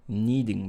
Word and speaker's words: kneading: to say it so i would have said netting the dough so i am wrong in that word so it is kneading the dough okay on my knees